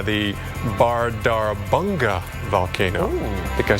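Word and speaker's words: Bárðarbunga: bubbling up this is a very difficult to pronounce volcano here in Iceland it's actually called called the bardar banga volcano I think I said that correctly yeah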